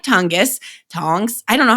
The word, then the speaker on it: Tonges: of mention is Jake Tonges. And yes, that is a real name. I had to look up how to say it so I wouldn't say tongues or something.